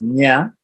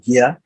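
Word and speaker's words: ज्ञ: a couple of conjuncts, nya, which is also pronounced gya, can be pronounced gya or nya, the J-N, this one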